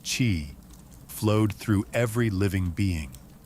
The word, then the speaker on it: qi: It was about energy, the invisible, vital force called qi, pronounced qi, flowed through every living being.